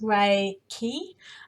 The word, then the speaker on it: Reiki: what is Reiki so Reiki is pronounced ray key and it works with